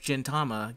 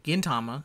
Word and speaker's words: Gintama: i have been saying gentama because his name is gentoki yes okay we'll go with well it's just the japanese word for silver so gin is silver yes which i know